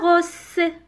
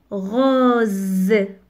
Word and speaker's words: rose: Lorsque vous voyez S entre deux voyelles, la lettre S prononce Z. On ne dit pas rose. Non, on dit rose.